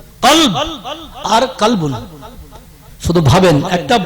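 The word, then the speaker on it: قلب: জানেন আরো একটা উদাহরণ, কলব। আমরা বড় কব বলি যার উপরে দুটো নোক্তা, তা কলব এইটা, এই যে জায়গাটা কলব, দিল, এটা দিল। আপনি ওটাকে যেই বলছেন কলবুন, কলব আর কলবুন, শুধু ভাবেন একটা বড় কাপ আর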